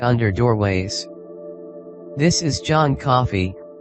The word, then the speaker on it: Coffey: This is John Coffey, like the drink, only not spelled the same, and he has been convicted of molesting and killing 2 little white girls.